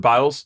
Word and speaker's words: Biles: the Simone bees thing Simone biles is it biles yeah see I don't even say her name if you're French I thought it was BL I I thought she